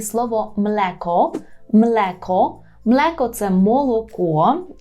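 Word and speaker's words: mleko: ми маємо млеко мелеко при вимові цього слова звертайте увагу на те щоб вас не звучало мєко тут на своєму курсі вже в бонусному уроці є студентом пояснюю чому не можна казати млеко так повинно бути млеко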